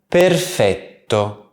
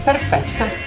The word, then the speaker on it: perfetto: Keep in mind that in the Italian version of this word, there's no cuh sound. So it's not perfetto, but perfetto, with a nice long double T. Perfetto, grazie.